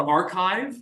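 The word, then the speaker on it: arXiv: every morning I check the archive it's spelled with an x uh but what the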